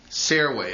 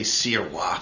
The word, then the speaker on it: Sirois: Around Woonsocket here, you would say Sirois, the good old French name.